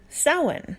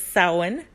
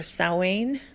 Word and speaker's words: Samhain: light again and those Sabbath's are as follows soin which is spelled Samhain and I believe was butchered and ghostbusters it's soin so it's spelled Samhain but it's pronounced it pronounced selwyn or sow Ain I pronounce it soin most people in paganism